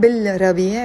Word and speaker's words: بالربيع: بالربيع, I'm not saying بالربيع because را is a sun letter, so I'm not pronouncing the lam.